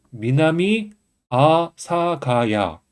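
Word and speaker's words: 南阿佐ケ谷: 그래서 합쳐 주면 독과 음독 음독가 예외 합쳐서 미나미 아사가야 미나미 아사가야라고 읽혀집니다 m 3은 신코엔지 있니다 일본은 발음을 읽으면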